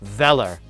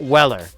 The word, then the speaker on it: Weller: and in both videos they pronounced the company's name Veller not Weller so I I was